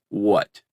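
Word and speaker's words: Hwæt: player game and it's called what but it's spelled hwae t and don't worry about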